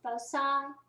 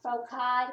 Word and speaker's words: foci: There's two individual focuses, but the plural is actually foci, or foci, depending on whether you think it should be a hard C or a soft C.